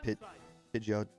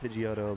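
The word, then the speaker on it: Pidgeotto: I pronounced it pigot. Well, I've never pronounced it pigotto, but you know, I've pronounced Pidgeoto many times wrong.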